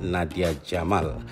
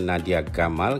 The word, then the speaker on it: Nadia Gamal: penari tarian perut terkenal Nadia Jamal walaupun ramai yang menyebutnya Nadia Gamal karena ejaan namanya ini Tuliskan dengan huruf j Nadia membuat persembahan tarian